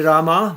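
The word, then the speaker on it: Rāmā: Yeah, so Rama, who is that? Now this is test. Rama with long A in the end.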